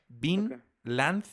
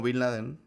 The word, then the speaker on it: Vinland: Vinland, así de tierra, pues, Vinland. Okay. Como Bin Laden. No, V-I-N, Land, así pegado, Saga.